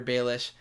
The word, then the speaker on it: Baelish: point, and I'm like, okay, that's how he pronounces Brienne or Peter Baelish, and it's okay.